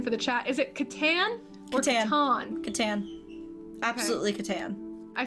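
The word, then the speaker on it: Catan: many morgues maddie mark says it is absolutely katan do not even get me started oh this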